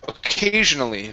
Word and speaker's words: occasionally: Now, watch your L's here, okay? You don't want to hit your tongue against the top of your mouth, pronouncing sort of a hard R sound like occasionally. It's not D, it's lee.